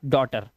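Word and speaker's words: daughter: अब देखो यहां पर जी एच टी से बना ट और लास्ट में वाई लगा हुआ है जो कि एक सेमी वोवेल होता है ई की आवाज दे रहा है तो यह हो गया नॉट टी यह नौ और यह टी ऐसे ही डो और यह हो गया टर इ आर की आवाज आई तो रा आ गया डॉटर।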